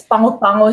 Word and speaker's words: Pago Pago: Like Pongo Pongo. Yes, Pango Pango. So yeah, at the end, it's like NG and the N is silent.